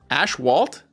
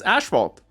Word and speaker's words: asphalt: Ashwalt? I didn't say ashwalt. It's asphalt. Asphalt. Asphalt.